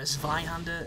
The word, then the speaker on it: Zweihander: He's got a Zweihander, or a Zweihander, as I prefer to call it, because, you know, you pronounce the V like that in German, and it's just a bit more authentic.